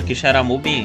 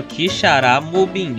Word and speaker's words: Quixeramobim: Por exemplo, no interior do Ceará tem uma cidade chamada Quixeramobim. Só que por algum motivo, todo mundo da minha família falava Quixaramobim. Só que o certo é Quixeramobim, não é Quixará.